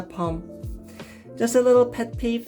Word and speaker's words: Bom: gmat tiger but it's it's not an explosive it's not a bomb it's a palm just a little pet